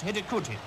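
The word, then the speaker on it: Hidegkuti: The scorer's name is pronounced Hidikuti, I hope.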